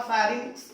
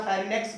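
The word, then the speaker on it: pharynx: अब फेरिंग्स या फेरिनेक्स भी बोल सकते हो, लैरिंग्स या लैरिनेक्स भी बोल सकते हो, वो प्रोनाउंसिएशन आप लिख लेना, फेरिनेक्स या फेरिंग्स।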